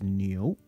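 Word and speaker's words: 牛: This character here, that's ox, and pronounced as new.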